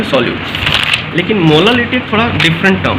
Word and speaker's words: molal: जैसे अगर मोलालिटी लिखा हुआ है 3 स्मॉल m, इसको पढ़ते हैं 3 मोलल, ऐसे प्रोनाउंस करते हैं 3 मोलल।